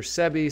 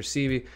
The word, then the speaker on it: Sebi: so they're talking about Dr sebie sometimes pronounced Dr cie that's nipy hustle on